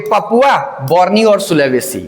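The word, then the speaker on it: Borneo: Sumatra ये जावा जावा यहां पे बाली ठीक है ये बताओ ये बताओ तिमोर उसके बाद ये बताओ बर्नियो नहीं बोर्नियो बर्नियो बोर्नियो फ्रेंकोइस बर्नियर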